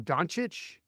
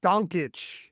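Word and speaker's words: Dončić: dire critical marks on donic donic there like random is that what it's called donit donit is how you're supposed to pronounce it which the more you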